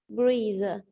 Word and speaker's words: breathe: I can't sing, breathe, eat, hear. Breathe. Breathe. And remember, this is the verb. It's pronounced as breathe.